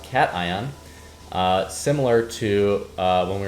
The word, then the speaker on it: cation: ion exchange beads um if you look at the word Nation it's spelled almost the exact same way uh but this is not pronunciation this is pronounced cation similar to uh when